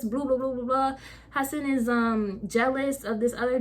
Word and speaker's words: Hassan: It's a book, but I'm assuming it's pronounced Hassan because of Hassan Minhaj pronounces his name the same way, and it's just a difference between 1 and 2 S's, so Hassan.